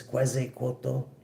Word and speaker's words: Quetzalcoatl: The Ace of Swords, Quetzalcoatl. Yes, I believe that's how it's pronounced.